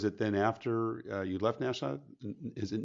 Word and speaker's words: Nashua: So, was it then after you left Nashua? Is it not Nashua, right? Is that how it's pronounced?